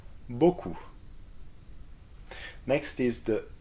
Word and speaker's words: beaucoup: O can be spelled AU or EAU. Like in, and let's repeat it, O, O, beaucoup.